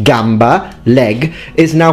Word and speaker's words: gamba: k sound like kiesa church is then pronounced chieza with a che for that from our perspective that sounds absolutely awful and crazy I mean everyone knows it's pronounced Gamba and kiesa but for future Italians